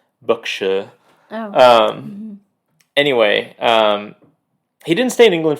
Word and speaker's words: Berkshire: So Hugh Lofting is born in 1886 in a place that I would consider pronouncing Berkshire, England, but I looked up the pronunciation and it's Berkshire.